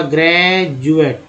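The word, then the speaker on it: graduate: ग्रेजुएट आपने नाम सुना होगा, ग्रेजुएट। तो ग्रेजुएट में आप यहाँ देख रहे होंगे कि डी जो है, डी है ना, डी को क्या बोल रहे हैं, ज, क्या बोल रहे हैं, ज।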